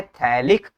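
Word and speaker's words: phthalic: अच्छा, बहुत बच्चे इसको समझ नहीं पाते हैं, PHTALIC, ये होता है थैलिक, PH होता है साइलेंट, तुम इसको पढ़ते हैं थैलिक, तो हो जाएगा थैलिक anhydride in the presence of AlCl3 catalyst, ठीक है।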